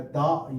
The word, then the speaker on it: the: ही है इंग्लिश में, वो है दा या दी। दोनों प्रोनाउंसिएशन हमने डिस्कस किए थे कि डिक्शनरी में दोनों करेक्ट हैं, डिपेंड करता है।